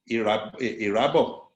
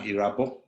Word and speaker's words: Irabor: And don't say Irabor when I'm Irabor. Go and research how to pronounce my name.